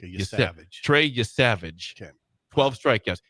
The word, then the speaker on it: Yesavage: Yes, Yesavage. It's like the word savage with YE ahead of it. Yesavage.